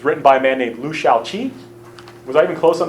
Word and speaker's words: Liu Shaoqi: it simple it's written by a man named Liu Shaoqi was I've been close on the pronunciation Liu Shaoqi thank you it was written by him we'll